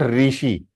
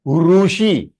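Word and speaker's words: ऋषि: So Rutu and Rushi. It is not Rishi. Agar Rishi bol rahe hain, then you are not talking in Sanskritam, you are talking in Hindi or in Marathi or in Gujarati, but not in Sanskritam. If you are talking in Sanskritam, it will become Rushi. Rushi, longer one.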